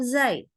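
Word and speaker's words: زاي: Rah dan sifatfirnya kemudian keliru membaca huruf Zai ya Zai ini sering jadi korban nih teman-teman hati-hati membacanya kadang-kadang Jadi huruf Jim atau huruf j ya karena kadang-kadang huruf jnya Indonesia juga beda ya sama Jim kemudian atau bersifat hams ya jadi baca zainya jadi hams ni akhirnya jadi berubahlah dia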